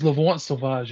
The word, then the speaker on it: L'Enfant Sauvage: I really don't know how to pronounce it, so I just call it elephant sausage. Nice, okay. It's L'Enfant Sauvage, yeah?